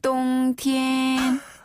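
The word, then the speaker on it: 冬天: 길개 치오 티엔 이고요네 겨울은 겨울 동자를 써서 똥 티엔 이게 겨울 동자 정확한 발음인 거죠 그렇죠 정확한 발음이에요 딴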